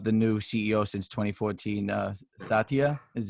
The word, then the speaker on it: Satya: Satya is how you pronounce his name.